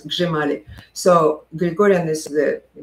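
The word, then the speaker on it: Hřímalý: Basically, it's like an improved Hrshimali. And Hrshimali or Grimali, as it's pronounced, it's spelled H-R-I-M-A-L-Y. know, the chrimali, I think it's sometimes called in English, but it's gzhimali.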